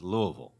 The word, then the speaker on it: Louisville: Is it Louisville, Louisville? It's Louisville. So, okay, so it's Louisville.